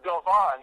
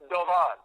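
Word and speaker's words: Doğan: And it's pronounced Dovan in Turkey, and it means falcon.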